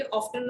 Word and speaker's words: often: ऑफ्टन और ऑफन एक pronunciation दोनों सही है।